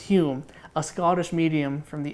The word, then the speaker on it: Home: It's spelled home, pronounced Hume in the parenthesis. We we talk about Daniel Dunglas home pronounced Hume a Scottish medium from the 1800s.